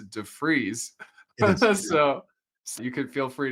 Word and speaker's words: de Vries: And I pronounced it wrong. It's defreeze.